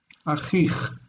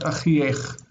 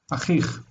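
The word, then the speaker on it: אָחִיךְ: Before these vowel endings, vocalic endings, we're not going to see ech, we're going to see just ch. Achich, not achiech. Achich.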